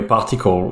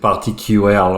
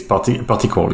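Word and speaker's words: PartiQL: you you pronounce the the right way a particle um you could pronounce it party ql or some other other part but the way to pronounce it correctly is particle yes that's correct and it seems like aws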